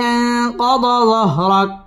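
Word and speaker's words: أَنْقَضَ ظَهْرَكَ: আং ইকফা গুন্নাহ করে পড়তে হবে। আনকাদ যহর, র পুর হবে। রক কাফের মধ্যে ওয়াকফ করতে হবে।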